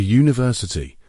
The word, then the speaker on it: university: A university because university starts with a Y sound.